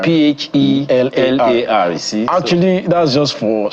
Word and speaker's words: Phelar: And by the way, his own Phelar is spelled P-H-E-L-Y. So it's L-A-R. Phelar. Phelar.